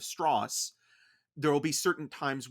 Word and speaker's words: Strauss: And there are little moments where anytime someone pronounces his name wrong, which is something in the movie, they say Strauss instead of Strauss.